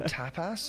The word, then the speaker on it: tapas: Dude, it's tap not tap ass.